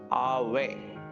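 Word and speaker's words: Ave: about English A வி அவே ஆவே அப்படின்னு இதனை உச்சரிக்கணும் இந்த ஆவேன்னா மீனிங் ஒன்னும்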